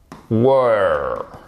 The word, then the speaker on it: were: If I were et pas if I were, ok? On n'est pas en where. Where are you? Where, were, were. Allez, bah non, il faut le faire. Ah, je répète, ok. Where, were. Exactement.